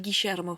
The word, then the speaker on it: Guillermo: En espagnol, c'est Guillermo. Ouais, c'est Guillermo. En Mais en argentin, même temps, c'est ça s'écrit Guillermo. Oui, mais en argentin, ça se dit Guillermo.